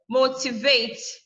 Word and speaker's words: motivate: This motivate, we only have 3 syllables. So vate, last syllable, t, second to the last syllable, mo is the third syllable to the last. So you stress the first one.